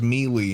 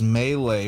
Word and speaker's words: Melee: She's like, "Oh, I love Super Smash Brothers Melee," and I'm like, "The announcer says Melee when you boot up the game. Why are you mispronouncing it?"